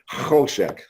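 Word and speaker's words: חשך: Choshek. You got to get that kho in That's how you That's how I've taught to pronounce it. Choshek.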